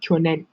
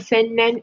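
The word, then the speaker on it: 去年: So it'll be kyonen. It's not sennen, it's kyonen.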